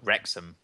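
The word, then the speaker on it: Wrexham: traveled from Cardiff to W how do you pronounce that atos uh is that now oh rexam rexam that's actually how it looks cool sharing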